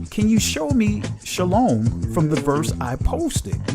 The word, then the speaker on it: Shalom: there however being that he thinks the word is actually pronounced Shah Alam I'm guessing that part of his intention at the time was rooted in his assumption that the word is not and cannot be pronounced Shalom so I think this